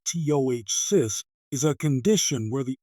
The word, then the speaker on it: ptosis: Tossis pronounced to cyst is a condition where the upper eyelid starts to fall lower than it should.